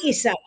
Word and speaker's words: Isa: I still I still got to hear that Issa. Um Um I have to I have to correct your pronunciation please. Sarge is very kind. It's e Isa.